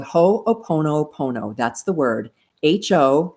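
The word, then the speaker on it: hoʻoponopono: they call it but you pronounce it with a little hitch in in between the words and uh then the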